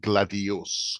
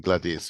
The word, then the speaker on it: gladius: is the sword yeah there tend to be pronounced gladios rather than Gladius although in some versions